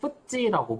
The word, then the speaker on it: FTSE: 같은 지수들이 있고, 영국에는 뭐 요거를 줄여서는 FTSE라고 발음 나는 대로 그냥 FTSE라고 부릅니다.